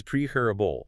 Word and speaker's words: preferable: It is preferable. The stress is entirely on that first syllable.